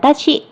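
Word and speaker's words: わし: กับ หัว ตาคุชชี่ แต่ ฮิรางานะ จะ ตัด ตัว ครู ออก อ่าน ว่า วาชิ แปล ว่า ผม จะ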